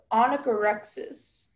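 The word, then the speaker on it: onychorrhexis: Okay, onychorexis? Am I pronouncing right? Yes. Is there any alternative pronunciations? There's just the one anagorexis.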